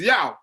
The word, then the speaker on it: Yaw: to this white guy i told him my name is yao right and then he said oh what a cool name how do you spell that so i said y a w right to which he responded oh you mean yeah what the [ __